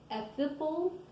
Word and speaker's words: Ahithophel: Then Absalom sent for Ahithophel, I'm sorry I said it wrong, Ahithophel the Gileonite, David's counselor from his city, namely